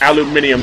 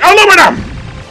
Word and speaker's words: aluminum: Why do British people pronounce aluminum as aluminium? There is no extra I in aluminum. That's why we pronounce it aluminum!